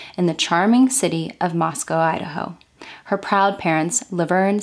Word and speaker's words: Moscow: From everything that I've read online, locals refer to the area as Moscow, not Moscow. I just want to make that clear because I know that some people may be a bit confused on the way that I'm pronouncing it.